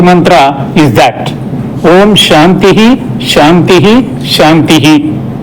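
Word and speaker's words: शान्तिः: So the significance of chanting 3 times Santi Mantra is that Om Shantihi, Shantihi, Shantihi. Visargas must be pronounced. But when you pronounce at a stretch, you can call it Shantis, Shantis, Shantihi.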